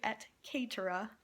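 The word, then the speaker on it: et cetera: Etc. is not how you pronounce it in Latin, it's actually et caetera.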